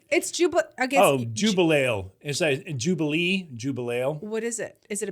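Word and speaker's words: Jubelale: How do you spell it? Jubeale. What is that? Jubil Ale? Yeah, but they have it all. Jubilela? Did you? I said you made it all one Jubileela, word?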